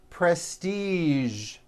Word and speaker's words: prestige: television very good now there are only a few words that have the voiced zh sound at the end a few of these words are the color beige the word massage and the word prestige okay now that you